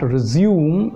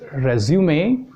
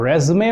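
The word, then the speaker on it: résumé: this word resume resume resume resume the right pronunciation is not resume it is resume or resume also in some countries it is pronounced but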